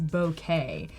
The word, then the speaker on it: bokeh: I heard the real way you're supposed to say is bokeh, but I don't know a single photographer that Yeah, says bokeh.